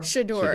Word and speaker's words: Shedeur: We're going to be covering Deion Sanders, saying his son, I learned how to pronounce this, and then I forgot. Can you enlighten me? Shedeur.